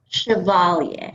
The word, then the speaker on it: Chevalier: actually pronounce that name like the old actress right chevalier chevalier like people who remember maurice chevalier and this is a